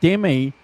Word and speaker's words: Demme: How do you pronounce that surname? Demi. Yeah. Jonathan Demi. So I know that you mentioned it earlier, Simon, and a while ago about Kubrick lover meeting him, but so Jonathan Demme, he's directed some Hollywood movies, hasn't he, over